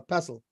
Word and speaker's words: pestle: if it's if I I'm pretty sure the t is silent I think it's a pestle oh yeah it's pencil